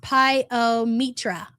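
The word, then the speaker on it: pyometra: Liz says, "For anyone wondering, I lost a kitty 20 years ago to pyra, pronounced pioitra."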